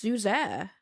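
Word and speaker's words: Suger: You don't pronounce You don't pronounce the G. It's It's Zuzair.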